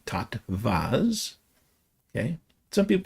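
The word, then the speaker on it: tattwas: t w a s pronounced with a v tot vas. Okay. Some people call them totas.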